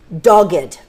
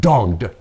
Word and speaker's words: dogged: say or that project notice it's two syllables like the word rugged yeah dogged dogged so it's not dogged it's not the although